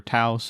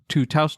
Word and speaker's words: Taos: I actually don't know how to pronounce it. Is it Taos or Taos? Anyway. It's Taos. You're Taos.